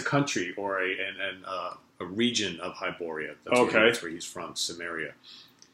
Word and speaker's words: Hyboria: Oh, Hyboria. The Hyborian Age of Yes, Conan. this is a map of Hyboria. So basically, I thought it was Sumerian. well, that's a country or a region of Hyboria.